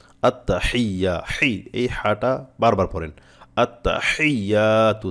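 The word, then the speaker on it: আত্তাহিয়্যাতু: হাটা বারবার পড়েন আত্তাহিয়াতু থেমে থেমে আত্তা হিয়াতু এভাবে আত্তা হিয়াতু আত্তা হিয়াতু এভাবে বারবার পড়েন থেমে থেমে পাঠ পাঠ করে তাহলে আপনার সহি হবে একসাথে পড়তে গেলে অনেক ক্ষেত্রে উচ্চারণটা আসতে চায় না আত্তাহিয়াতু এভাবে বললে আপনারা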